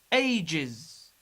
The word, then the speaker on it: ages: Ages. Ages. We pronounce S as is because it's preceded by G sound.